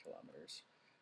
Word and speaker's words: kilometers: So 10 I learned kilometers. Um, even though there's no reason for it to be that because it's also like centimeters and the emphasis is on a different syllable, but that's the way it is in this country.